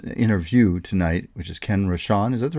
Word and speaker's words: Rosch: interview with uh interview tonight which is Ken rashan is that the right way to pronounce it rashan you did very well okay and you pronounce